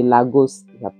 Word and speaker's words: Laos: de legos et de Laos j'appelle prononce ça en français Laos en français on prononce la dans les rues de